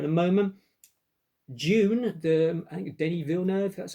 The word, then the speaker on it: Denis Villeneuve: June, I think Denis Villeneuve, that's how you pronounce his name.